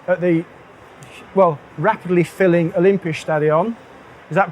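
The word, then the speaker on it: Olympiastadion: here in Berlin at the well rapidly filling Olympia stadion is that pronounced correctly excellent um so my name is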